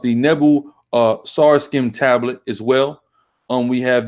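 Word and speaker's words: Nebo-Sarsekim: We have the it's pronounced the Nebu Sarskim tablet as well.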